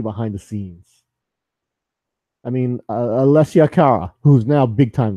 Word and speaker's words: Alessia: I was looking at Alicia Cara, but okay. Alessia. Sorry. It's not Alicia. Sorry. It's spelled differently.